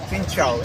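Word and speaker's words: xin chào: do I say hi finow fincha am I pronouncing it right yeah fincha so how do I say how are you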